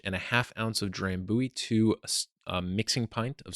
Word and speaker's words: Drambuie: of the shared malted barley base spirit, and that's spelled D-R-A-M B-U-I-E, drambuie.